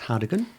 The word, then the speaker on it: Hargaden: Not Haagen-Dazs, Hargaden.